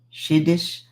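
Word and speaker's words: Siddis: The cities, pronounced Shiddish, of India are descendants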